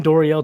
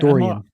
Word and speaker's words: Dorian: I mean, if you're going to take Duggan or Horner or even Doriel Thompson, like Was it Is it Doriel, right? Did I say his name right? Dorian. Dorian.